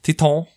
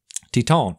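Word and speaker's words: Titane: It's a French film, so I'm guessing it's pronounced Titan, like the French.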